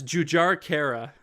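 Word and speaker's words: Jujhar Khaira: I'm doing bad it's jujara Cara so in this one you pronounce the JS um but yeah it's it's jujar Kara this one if you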